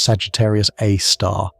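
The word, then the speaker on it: Sagittarius A*: It's called Sagittarius A, pronounced Sagittarius A star, and it has a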